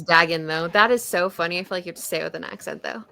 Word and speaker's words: Dagon: it's Dagon though.